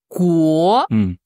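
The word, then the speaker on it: 国: pays ouais tout simplement la prononciation d'abord c'est qu qu pour toi c'est quel ton deuxème ton ouais comm va comme comme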